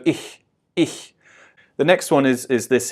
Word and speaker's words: ich: Now when I first started off, I probably wanted to pronounce this quite harsh, sort of like ich, but it's much softer, it's ich. If you imagine somebody laughing and going he, it's that first h sound, the he. So ich.